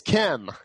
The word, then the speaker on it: Kem: It's Kem.